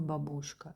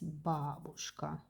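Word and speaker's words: бабушка: Babushka is the famous word also famous song but only please don't pronounce like babushka. It's not babushka it's babushka. Okay it's babushka it's grandmother.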